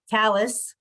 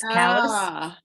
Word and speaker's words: Calais: And there are also places in Maine that are actually mispronounced in Maine, like Callus, which is like spelled like Calais in France, but it's Callus.